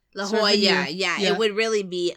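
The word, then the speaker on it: La Jolla: Beach Boys all over La Hoya La Hoya yeah it would really be la la Hoya l in Spanish is y it's a y sound so la Hoya yeah yeah but I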